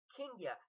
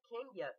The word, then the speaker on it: Kenya: and she was like no boo it's Ken Kenya like continent Africa Kenya I'm like that call